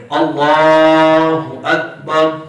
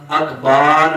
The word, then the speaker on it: اللہ اکبر: اب اس میں ہم نے صرف جو لام ہے نا اس کو لمبا کرنا ہے, اللہ اکبر. یہ میں ایک مرتبہ پڑھتا ہوں, تمام آپ مل کر اس کا تلفظ درست فرما رہے, اللہ اکبر. یہ اس کا درست تلفظ ہے. اس کو الف کو بھی لمبا نہیں کرنا, لفظ اللہ اس میں جلالت کے اکبر کے الف کو بھی لمبا نہیں کرنا, اکبار بھی نہیں کہنا, با کے بعد الف کو بڑھا نہیں دینا.